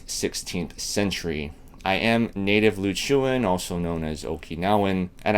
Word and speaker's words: Ryukyu: Since time immemorial, Okinawa was a peaceful, prosperous, independent nation known as Ryukyu, and Ryukyu is the correct native pronunciation.